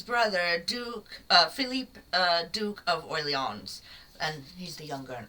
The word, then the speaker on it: Orleans: And she's the wife of the king's brother, Duke Philippe, Duke of Orleans, and he's the younger and only brother. You don't need to pronounce the S either.